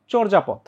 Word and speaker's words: চর্যাপদ: রেফ এরপর অন্তস্থীয় জাই অ এর উচ্চারণটা ও এর মত চরজা না কিন্তু অনেকেই ভুল করে চর্যাপদ না উচ্চারণটা হচ্ছে চর্যাপদ চর্যাপদ আচ্ছা তারপর হচ্ছে এখানে